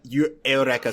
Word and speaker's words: Eureka: the seminal anime uh Aorea 7. It's it's spelled Eureka 7, but it's a 7. Please trust me.